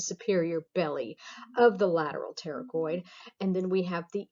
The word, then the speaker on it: pterygoid: All right, so here we have the medial pterygoid, the P is silent, pterygoid muscles.